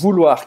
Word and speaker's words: vouloir: Então, ou em francês, a gente vai pronunciar U, como a letra U em português. Vu, vu, vu. Vou. E depois a gente vai ter o OI, que vai ser UA. Uá. Então vai ser vouloir.